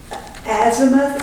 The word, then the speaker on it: azimuth: Oh, azimuth or a zeith. Azimuth. Azimuth. Okay. I can spell that but I can't say it.